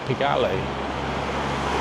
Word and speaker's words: Pigalle: It's a bit of fame with Pigalle. That's how you pronounce it.